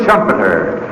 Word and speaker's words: Schumpeter: McGregor has called Joseph Schumpeter, whose name rhymes with trumpeter.